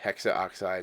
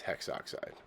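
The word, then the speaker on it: hexoxide: oxides it's monoxide or tetra phosphorus hex oxide it's not hexa oxide it's hex oxide here are some more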